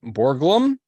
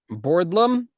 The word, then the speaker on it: Borglum: his name is guton Borglum I think it's how you pronounce it I don't know no that's not how you pronounce it boram borlam there's a g and a a an r in there so yes it's